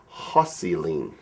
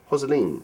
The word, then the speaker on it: Jocelyn: So, and apparently Jocelyn is pronounced Hosseline. Hosseline.